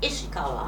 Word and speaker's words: Ishikawa: Ishi, how shall I pronounce it? Ishi is Ishiawa. Ishikawa.